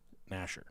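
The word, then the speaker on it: Gnasher: Clasher, and then Nasher is spelled G-N Nasher.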